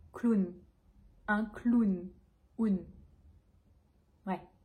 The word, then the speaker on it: clown: donc première chose ce mot on va le prononcer clown un clown ou une vraie ce mot on